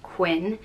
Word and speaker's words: Quin: in County Clare sorry it's spelled q-u-i-n and pronounced just Quinn in Irish it's quincha